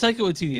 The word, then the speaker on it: Taika Waititi: So it's Taika Waititi.